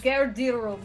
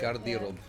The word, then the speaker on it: Garderob: But in the interests of Garderob is how they pronounce it. Garderob.